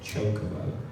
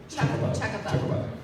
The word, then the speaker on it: chocobo: usually when North American voice actors say it, they say chocobo. Yeah. But the European department get very funny about it. They say chocobo. It sounds more like chuck. Chocobo.